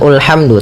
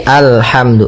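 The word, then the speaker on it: الحمد: Di sini kita baca alhamdu. Maka apabila ada alif lam di awal bacaan, maka a-nya dibaca dengan fathah. Alhamdu. Nah, di sini bukan ulhamdu tapi alhamdu.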